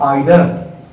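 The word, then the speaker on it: either: उसी तरह से धड़कना है, यदि हम कहते हैं आइदर, तो आइदर या इधर दो तरह का उच्चारण इसका होता है, तो हम लोग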